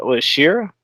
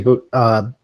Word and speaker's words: Shida: I know certain brackets, the deep matchup versus Shira. I don't want to mispronounce her name. It's supposed to be Shida.